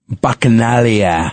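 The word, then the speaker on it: Bacchanalia: Bakanalia. back in alley.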